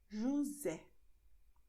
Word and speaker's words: José: For instance, when you say José. You see, the letter S is between O, E. So you're going to say José.